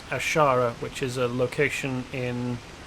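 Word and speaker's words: Azshara: leaves and vanish ashara it's spelt differently but it's pronounced almost the same as ashara which is a location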